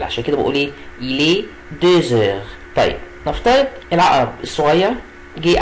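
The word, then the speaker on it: deux heures: وخلي بالي هنا ان الاكس نطقتها زد علشان جه بعديها ان فويل، عشان كده بقول ايه؟ الي دوزور.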